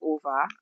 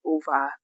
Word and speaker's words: Ove: So I call it Ove, but it turns out it's pronounced over because it's Swedish, by the way. And I've been trying to get used to over, but I've so I